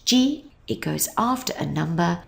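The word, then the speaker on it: 時: to use it is to mean o it's pronounced G it goes after a number and when you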